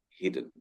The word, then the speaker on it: hidden: So the correct pronunciation is hidden.